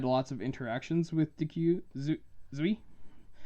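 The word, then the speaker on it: Duy: It's the name Zui is something I really struggled with because it's spelled D-U-Y. So it looks like Dwi, but it's with a Zui. It's with a Z at the beginning, under Vietnamese pronunciation.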